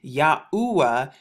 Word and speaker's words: Yahuwah: in great detail but if you actually pronounce this out this right here is the yah so it makes the yes sound the y this right here is the ha which is the h this right here is the or the w but we know that the w just pronounced that out in english it sounds like double u or the u and then here's the ha once again so you get yahuwah yahuwah even right here in